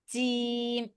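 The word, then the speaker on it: جيم: পড়বেন জটা জিম জিম জিম এরকম না জিম হচ্ছে জিম উচ্চারণটা আমি বলি কোথা থেকে হয় জিম উচ্চারণ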